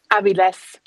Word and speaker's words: Aviles: guest, which I'm happy to say is Aviles. Did I pronounce that right? Aviles.